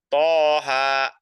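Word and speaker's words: Taha: Toha gitu bacanya. Jangan kita baca Toha, itu salah. Ya, kita bacanya dengan apa? Dengan dua harokat.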